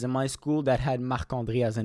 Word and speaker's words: Marc-André: That's how you pronounce it. English speakers say Marc-André Barreto. But in French, we have to say Marc-André. This is the way you say it.